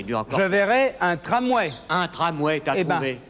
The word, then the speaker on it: tramway: Tramway.